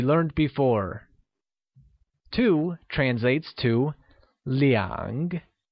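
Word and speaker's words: 两: before two translates to liang which is pronounced using a falling rising tone here's an interesting tip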